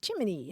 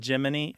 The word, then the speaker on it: Gemini: space program giny is Jiminy as in Jiminy Cricket yeah that became their